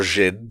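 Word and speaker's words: Jinn: Is this our first glimpse at an antagonistic Jin, or Jin, to say it properly?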